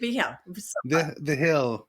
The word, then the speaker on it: Vigil: I'm here with Austin Spitzenberger and today we have. Did I say it right? Beh the Hill.